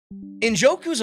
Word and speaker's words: Njoku: How do you pronounce his name? Njoku.